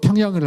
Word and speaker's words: 평양: 어 자 영어로 평양을 할 때요. PY UG y를 써요. 근데 미국 사람은 평양 평발음을 못 해요. 병양 그럽니다.양.